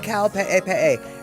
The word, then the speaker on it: Kaupe'epe'e: It's called Kaupe'epe'e, and that is spelled Kaupe'epe'e, Kaupe'epe'e.